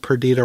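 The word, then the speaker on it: Perdita: was writing the notes that Pita rhymes with Anita Anita oh I didn't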